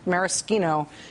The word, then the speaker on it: maraschino: no not looks like maraschino isn't maraschino it's pronounced maraschino it's a liqueur it's made from I don't